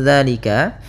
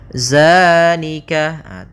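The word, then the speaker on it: ذٰلِكَ: Hati-hati dalam pelafalannya. Hati-hati dalam pelafalan zal, jangan dibaca dengan zai, jangan zalika. Bukan, dia bukan huruf za. Bukan dengan bacaan zai. Di sini tidak dibaca dengan zai, akan tetapi dengan zal, ujung lidahnya menempel dengan gigi seri atas.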